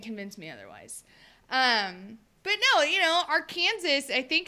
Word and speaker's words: Arkansas: What I think Arkansas or Kansas? No, it's Arkansas. Arkansas. Yeah, it's Arkansas because it's pronounced Kansas and not Kansas.